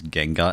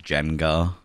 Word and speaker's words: Gengar: Oh, have you ever heard anyone mispronounce Gengar as Jengar?